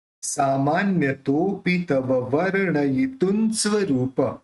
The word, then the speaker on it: वर्णयितुं: सामान्यतोपि तव वर्णयितुं स्वरूप। अभी जो अण के ऊपर रेफ है उसको व्र के साथ लेना है। वर्ण ये तुन स्वरूप, इसका उच्चारण न होगा क्योंकि आगे स है।